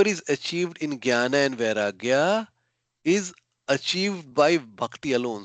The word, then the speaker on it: Vairagya: Vairagya. You just say va, and then you say the other word, ragya.